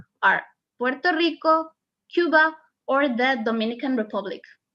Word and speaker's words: Puerto Rico: you can see here it's not puerto lico it's puerto rico so when do they